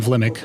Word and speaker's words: Vimick: I'm sorry I keep saying Vilmick. I mean Vimick.